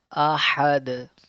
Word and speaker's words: أحد: Ahad. Just like this one. Make sure the letter ha will pronounce good and the sound of the letter dal will bounce back. Ahad.